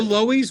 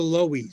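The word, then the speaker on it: Loew's: Did you call it the Loies when you were kids? Cuz we in Jersey City called it the Lois. cuz we couldn't pronounce Lowe's. L O E WS. It was it just threw it was for a loop. So we called Lo.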